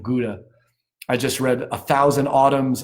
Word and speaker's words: Gouda: And John loves his, I'm not going to say the American pronunciation. I will use the Dutch pronunciation, Gouda cheese. I've been told that's the correct pronunciation of Gouda.